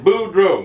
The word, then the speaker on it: Boudreaux: your name I said my name is Boudreaux you spell that b-o-u-d-r-e-a-u-x but you can pronounce it and he goes okay